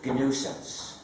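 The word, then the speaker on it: gNewSense: Y también hay GNUsense. GNUsense es también una broma, porque mi título como fundador del movimiento del proyecto GNU es Chief GNUsense.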